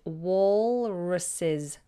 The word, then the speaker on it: walruses: actually was the waris's walruses it's a little bit of a mouthful and the L is pronounced some people may not